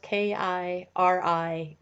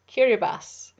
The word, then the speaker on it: Kiribati: talking this is important even though it's spelled k-i-r-i-b-a-t-i it's not pronounced kiribati it's pronounced kiribas and so we're visiting